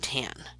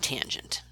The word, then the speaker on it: tangent: Please do not pronounce them as sin, cos, and tan. That's the quickest way to drive a maths teacher crazy. They are sine, cosine, and tangent.